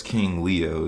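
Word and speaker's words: KXNG Leo: That's King Leo. It's spelled KXNG, Leo.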